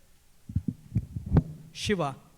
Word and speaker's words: Shiva: Sir, can you please come back and state your name again for the court reporter and spell it maybe? Sure. It's a Shiva.